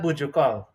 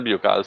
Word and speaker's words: Bejucal: I always call that Bujukal. Bujukal, so Well, we just pronounce it as Biokal.